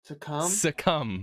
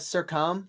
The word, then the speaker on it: succumb: It's succumb, not circum.